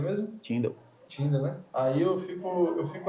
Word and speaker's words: Tyndale: Como é que se pronuncia mesmo? Tyndale.